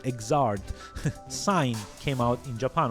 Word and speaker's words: Xrd: And yes, that's how it's pronounced, Xrd.